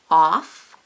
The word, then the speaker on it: of: Off, of.